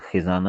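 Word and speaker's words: خزانة: خزین۔ اس عبارت میں ایک تو الخزانہ کا تلفظ بتایا جا رہا ہے کہ خاء کے کسرہ کے ساتھ خزانہ ہے، اور معنی ہے مکان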